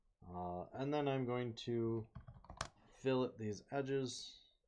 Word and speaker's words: fillet: It's not fillet, by the way. I know it's spelled fillet, but it's actually fillet.